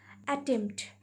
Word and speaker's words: attempt: Then attempt. At, tempt, T-E-M-P-T. Here also P is slightly pronounced, not clearly pronounced.